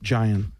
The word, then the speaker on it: Gian: Gian. Yes. It's almost like giant without the T.